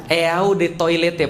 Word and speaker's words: Eau de Toilette: Eau de Toilette artinya adalah eau de toilet bacanya.